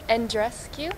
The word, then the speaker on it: Andreescu: I don't know how to pronounce it. Andreescu?